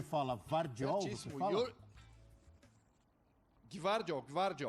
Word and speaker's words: Gvardiol: Gvardiol. Você tem esse G mudo, né? Então é Gvardiol.